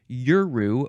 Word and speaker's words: Yuru: I got so hung up on how to pronounce the Aboriginal language. Their word is Yuru, Y-U-R-U.